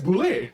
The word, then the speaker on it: boule: do you pronounce boule it's not bullet it's bulle yeah it's bule yeah it's a French word and yeah and it's